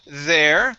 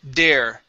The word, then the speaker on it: there: You're saying dare, dare. Okay. When we pronounce the TH, you want to stick your tongue between your teeth.